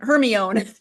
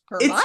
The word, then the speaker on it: Hermione: a lot of American kids went through their whole 7 books saying Hermione, until in one of the books she actually tells Victor Crumb how to pronounce it, and it's spelled out phonetically. And there were so many